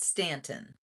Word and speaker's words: Staunton: They called it Staunton, but it's spelled like Staunton.